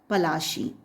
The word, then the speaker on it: Plassey: Because Plassey is an anglicized pronunciation of Palashi, and the place derived